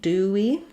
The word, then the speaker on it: dewy: o's do and then when we get to Dewey dewy We have basically just do plus e you may or may